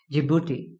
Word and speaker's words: Djibouti: will be pronounced as djibouti so I think this D is silent here so if I am